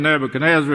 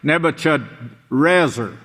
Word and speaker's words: Nebuchadrezzar: It's not even Nebuchadnezzar. It's Nebuchadrezzar.